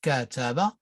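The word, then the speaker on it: كتب: word notice here that we have ka taba that means that is pronounced cataba and that means he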